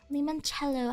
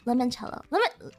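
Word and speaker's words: limoncello: Lemonello. How do you say it? Lemon. Lemonello. Lemonchello.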